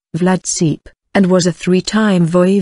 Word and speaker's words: Vlad Țepeș: dubbed Vlad the emperor Romanian vlads pronounced Vlad seep and was a three-time